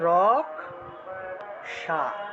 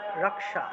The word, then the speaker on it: রক্ষা: এই রক্ষা শব্দটাকে তো বাংলায় আমরা রক্ষা বলি কিন্তু সংস্কৃতে আসলে শুদ্ধ উচ্চারণের ক্ষেত্রে রক্ষা বললে হবে না এটার উচ্চারণ করতে হবে ক যোগ মূর্ধন্য তে ভেঙে অর্থাৎ রক্ষা রক্ষা এইভাবে উচ্চারণটা হবে রক্ষা রাখ সা অর্থাৎ